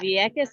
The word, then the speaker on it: Vieques: And you're going to have to tell me, how do you pronounce the city in Puerto Rico? How do you say that? Vieques Island, Puerto Rico.